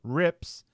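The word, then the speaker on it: RiPPs: posttranslationally ally modified peptides or rips pronounced like the rip in a piece of fabric.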